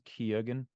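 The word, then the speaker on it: Keoghan: bar kogen and I there's like 17 different ways to pronounce his last name I think it's kogen K yeah the way he the way it's PR supposed to be pronounced like k or something that's the Irish pronunciation but everyone says Kagan so I'm just G to say that he's got clearly we've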